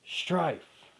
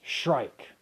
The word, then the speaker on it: Shrike: a while now yes i originally thought it was strife no it's shrike like the bird shrike so yes it's eugene